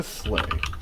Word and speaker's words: Slayh: I'm assuming that it's spelled Slay as in like you're slaying a dragon rather than slay as in like you're riding a sleigh. It's actually spelled Slayh.